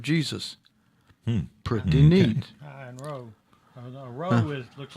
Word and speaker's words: rho: Kai and row.